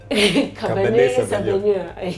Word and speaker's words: Cabernet Sauvignon: Savanio Cabernet. Yeah, we have somebody who can pronounce it proper. It's French. Me, I'm Tumbuka. It's what? Cabernet Sauvignon.